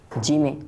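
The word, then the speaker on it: جيم: আর শুধু জিম নয়, বরং জিমের সাথে আরও দুইটি হরফ রয়েছে, শিন ইয়া। অর্থাৎ জিম শিন ইয়া এই তিনটি হরফ একই জায়গা থেকে উচ্চারণ হয়।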